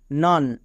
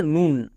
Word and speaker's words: nun: তাহলে এন ইউ এন নান এখানে অনেকে ভুল করে এর উচ্চারণ করে নুন কিন্তু এর উচ্চারণ হবে নান এবার এখানে দেখো সি